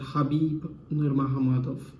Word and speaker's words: Khabib: and russia khabib nurmagomedov as he pronounced it once i've heard him pronounce it i know the spelling is different but i've heard him pronounce it and that's how you pronounce it habib and he will